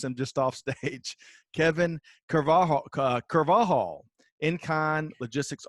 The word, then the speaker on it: Carvajal: your version come on let us hear it carvajal there we go okay so uh i appreciate